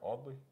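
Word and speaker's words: Audley: in all the in all that's how you pronounce it right oddly a-u-d-l-e-y-u-d-l-e-y yeah that was the first printer that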